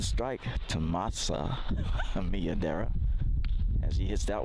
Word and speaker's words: Masa: I'm laughing about the name Masa because it's spelled M-A-S-A. Okay, so most people pronounce that Mesa, as I did, as I said before.